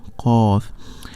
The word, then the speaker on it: ق: Qa, yeah, Qaf. Kaf, yeah, Kaf, it's close to Qaf, but Qaf is a heavy, and Kaf it's a light letter.